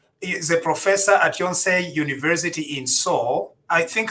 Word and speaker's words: Yonsei: He is a professor at Yonsei University in Seoul. I think I'm pronouncing it correctly. Yes, absolutely. Yes. Yonsei University in Seoul.